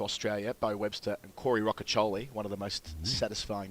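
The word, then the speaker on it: Rocchiccioli: That's how you say it. Rockoli. Yeah, we wanted him to go with Roachioli. Yeah. On the podcast, but no. Rockoli. No, it's Rockoli.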